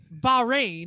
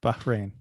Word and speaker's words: Bahrain: Formula One testing has wrapped up in Bahrain, because I think it's only 2 syllables. I don't think it's Bahrain. Much. I know you said it right. Yeah. Bahrain.